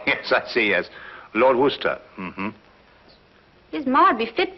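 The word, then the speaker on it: Worcester: freddie calls it something else too doc but it's spelled w-o-i-c-e-s-t-e-r we're sister oh yes i see yes lord wooster this might be fit to be hard time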